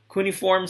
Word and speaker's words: cuneiform: language cuneiform in other american and british accents have different pronunciation for kuniform but i would prefer kuniform kuniform script created in mesopotamia